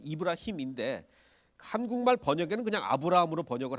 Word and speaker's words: 이브라힘: 그 아브라함의 원래 그 코란식 발음은 그 아람어식 발음, 아랍어식 발음은 이브라힘입니다. 그 코란은 아랍어로 기록이 돼 있죠. 이슬람식 발음은 이브라힘인데 한국말 번역에는 그냥 아브라함으로 번역을 한 것 같아요.